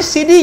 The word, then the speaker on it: Sidi: Itulah asal katanya, bukan lelucon, sebenarnya itu adalah " sidi." Itulah mengapa buku-buku menuliskannya sebagai ST dan SD, diucapkan seperti Siti dan Sidi .